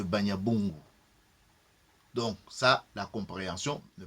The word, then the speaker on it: Banyabungu: Dit l'auteur, Banyabongo n'est sans doute que la prononciation défectueuse de Banyabungu.